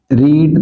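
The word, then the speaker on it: read: I blank रीड that book. तो यहां पर हम लिखेंगे वी टू जो कि रेड होती है।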